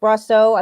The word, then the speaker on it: Brosseau: That's how you say it, Brosseau. I've been listening to the announcers and the guys on MLB radio, so it doesn't look like it would be pronounced that, but anyway.